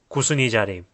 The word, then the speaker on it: Kusunijari: This word is pronounced as "Kusunijari".